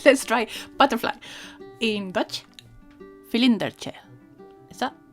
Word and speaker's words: Vlindertje: Vlindertje.